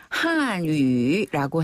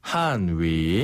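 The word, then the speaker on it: 汉语: 중국어 이거는 중국어로 뭐라고 발음네 중국어는 중국어로 중국어라고 발음하지 않고요 바로 한 위라고 해요 한위 한 번 더 한위 한위 그렇죠 한족 한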